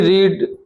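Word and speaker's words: read: एंड शी रीड यहां पर रीड नहीं है। ये रेड है। इसका उच्चारण हम क्या करेंगे?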